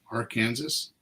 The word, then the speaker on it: Arkansas: I would love to see prosecuted really and AR Kansas am I saying that right AR Kansas Arkansas Arkansas yeah well it doesn't say Arkansas